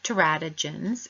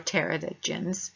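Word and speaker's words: teratogens: agents in the environment such as terratogens and or pterodogens people pronounce it in different ways so these adversely affect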